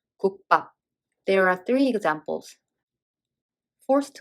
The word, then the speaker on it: 국밥: The consonant of the second syllable became tensed. It's pop. 국밥.